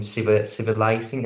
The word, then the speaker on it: civilizing: pronunciation women and women and also civilizing we have three eyes in the in that words three those three letters and the first two is are pronounced as an a I mean civilizing and the first one is like eye civilizing right child spots dry